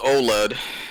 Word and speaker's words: OLED: a o LD d it's pronounced OLED it stands for organic light-emitting diode how about that there